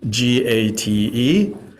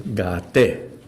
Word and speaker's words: gate: transcribing Sanskrit sounds uh all the vowels are pronounced so g a t e is gate not gate just to avoid the